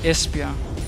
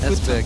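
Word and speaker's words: Esbjerg: beautiful beloved Denmark ah Espia there you go esper yeah it was actually one pronounce it i I said Esper i do espia espia there we go today I learned well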